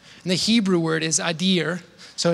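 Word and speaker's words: אדיר: And the Hebrew word is adir, so it's ado, adir. A female deer is an easy way to remember that.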